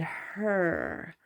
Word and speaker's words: Hur: And her, H-U-R.